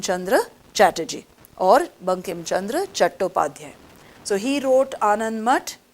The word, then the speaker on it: Chattopadhyay: anandmat was written by bankim chandra chattopadhyay they also call him as bankim chandra chatterjee but in bengali they say chattopadhyay now if this question